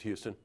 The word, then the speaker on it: Houston: And joining me today is Tom Fuston, rhymes with Houston.